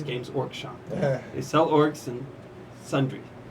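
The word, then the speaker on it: Games Workshop: shop that makes it everyone pronounces the W for whatever reason it's silent it's gamees orc shop they sell Orcs And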